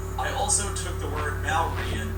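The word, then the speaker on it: Māori: I also took the word Maori and butchered it to Maori in another video.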